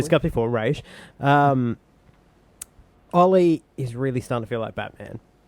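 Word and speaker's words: Ra's: Arrow as well with Raz or Raish or however they want to fucking pronounce it on this show. Raish is the correct way. We pronounce as it we've correctly. discussed before. Raish.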